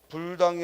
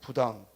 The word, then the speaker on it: 부당: 자세가 아니 죠 부동 또 불당이 아니고 부당 불독 이가 아니라 뭐요